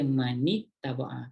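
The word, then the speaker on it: مَنِ اتَّبَعَ: Dia sebenarnya man ittaba'a tau sebenarnya kalau ikut dia punya ejaan. Tapi Rasulullah ajar kita baca, untuk baca Quran jangan baca man ittaba'a, salah. Rasulullah ajar kita baca man ittaba'a, kan beza.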